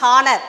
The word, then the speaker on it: honor: Don't, you should not pronounce honor. Here H is silent.